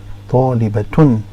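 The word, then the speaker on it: طالبةٌ: It sounds like a ta when you place a vowel on it and you pronounce the vowel. So here if we put tanween, here's, now it becomes talibata un, talibatun. Because now the ta is pronounced, and then you're ending the vowel ending, the case ending added to the end.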